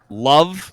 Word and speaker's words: LOV: You do know that you are reminded that the Sapphires have their primo product they do is something called Love, but it's spelled LOV.